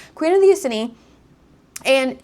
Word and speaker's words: Iceni: So, Queen Boudica, if you didn't know, she was She's like a queen of the Ic- Iceni? Icini? I I always feel like I'm saying it wrong. Queen of the Iceni.